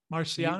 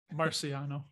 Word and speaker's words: Marciano: Did I say it right? Marciano? You got it. Spot on. Like Rocky, right? Exactly like Rocky. Marciano.